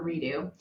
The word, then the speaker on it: Redux: It was called Chocolate Whisper Redo. But it's spelled Redux. So Redo, Redux.